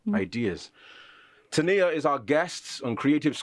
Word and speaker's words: Tania: It's Tania. Okay, Tania. But pronounced Tania or spelled differently for...